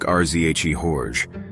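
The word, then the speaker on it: Řehoř: version what is it re-hore I can't get it out it sounds like rzhe horge but the zh is softer than the one in measure or treasure and the r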